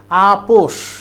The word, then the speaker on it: আপস: করি আপস বানান হচ্ছে আপস লিখবা আপস কিন্তু উচ্চারণ হবে আপোষ মিটমাট কোন ঝামেলা ঝামেলা